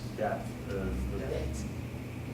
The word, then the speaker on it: debt: that when the money is, Oh, debt. Oh, debt. that, how you pronounce it? Debt. Debt. D-E-T is kind of how you say it, debt.